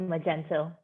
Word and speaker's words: Magento: let you yeah okay magento that's how you pronounce it magento yeah because i'm actually learning this as well